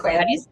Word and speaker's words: sequelae: Sequelae.